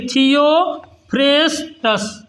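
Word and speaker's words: Theophrastus: देते हैं थियो फेस्टस कौन थियो फेस्टस कैसे उच्चारण करेंगे थियो फेस्टस क्या बोलेंगे थियो फेस्टस है ना बटनी का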